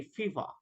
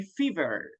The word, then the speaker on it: fever: That's why they don't pronounce very well letter R. So they say fever. But in American English, we can say fever.